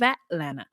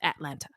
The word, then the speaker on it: Atlanta: 100 miles south of Atlanta. By the way, it's not pronounced Atlanta. It's pronounced Atlanta. Atlanta. Don't say the T's.